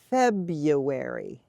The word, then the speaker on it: February: to that Feb Fe where is this W coming from Tanya this is one of those things that makes English pronunciation difficult is that a lot of times you hear a sound that you don't see in the word the way it's spelled so without looking at